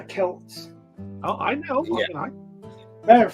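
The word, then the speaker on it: Celts: did not say that they weren't the SS they were the Kels yeah no Boston's dumb enough calling him the Celtics but yeah it's Celtic it's it's the Kelts oh I know matter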